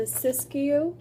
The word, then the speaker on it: Siskiyou: This is the Siskiyou, and that's how you pronounce it, from I'm with the Bears.